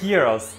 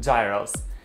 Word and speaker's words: gyros: But if there is one thing, the one thing they cannot make it right is Greek gyros, or how they commonly mispronounce it, gyros.